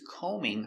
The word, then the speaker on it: combing: She is combing her hair. Combing. No b.